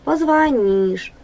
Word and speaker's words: позвонишь: ударение на первый слог позвонишь ударение на третий слог договор договор ударение на